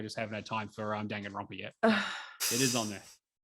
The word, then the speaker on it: Danganronpa: Drake, I always pronounce this wrong. Danganronpa. Danganronpa.